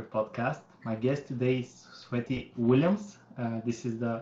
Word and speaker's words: Sveti: the health master podcast my guest today is sweaty Williams this is the right pronunciation on coming right yes that's right she